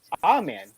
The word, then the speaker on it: Omen: In a spooky tie-in, the local officials noted that the distance to the near town of Omen, which is sure is pronounced Amen, which is exactly 66.6 kilometers from the site of the accident.